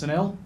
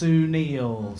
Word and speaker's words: Sunil: I said to him hello mate my name's Sunil and he just went uh nope absolutely not how you do that it's actually pronounced Sunil so there you go I can't I can't